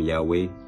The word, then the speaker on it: Yahweh: with 4 consonants, YHWH, pronounced by some Yahweh, by other Jehovah.